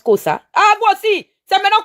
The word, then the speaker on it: Xhosa: On prononce Kosa.